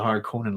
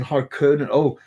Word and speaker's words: Harkonnen: There's an umlaut on the real word, Kevin, but I've been pronouncing it that long that way, so I go with Harkonnen. But it's I'm from Northern Ireland, so it's simply how I pronounce my vowels. So yeah, I've tried some of them out, but it's Harkonnen. O.